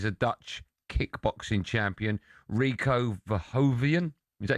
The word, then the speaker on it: Verhoeven: May the 23rd, it's glory in Giza as Usyk faces a Dutch kickboxing champion, Rico Verhoeven.